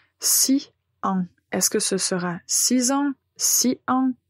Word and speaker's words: six ans: répéter après moi alors voici les trois exemples 6 ans 8 ans 10 ans alors vous remarquez bien je fais la liaison et je prononce ces deux mots comme en seul mois